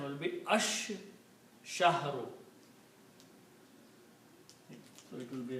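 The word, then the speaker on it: الشَّهْرُ: And shin is a shamsi letter, so when lam comes before shin, then lam is not pronounced. But, shin is pronounced twice. So, this the pronunciation will be ash- shahru.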